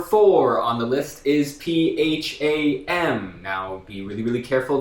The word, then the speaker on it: Pham: this particular name Pham we always hear a lot of people trying to do something cute with it like safe okay so that's what I'm talking about if you want to say it right though you gotta say say it one more